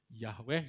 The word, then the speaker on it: Yahweh: YHWH itu tadi, Yod-He, Vav-He ya. Yahweh, Yehova yang bacanya.